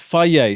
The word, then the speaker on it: Fage: Is it pronounced? Fage. Fage. Yeah. F. Fier.